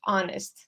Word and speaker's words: honest: an honest person because we say honest not honest all right uh what about the third one Priyanka do you want to go yeah actually I raised hand for the honest one that actually is silent in honest sorry and for this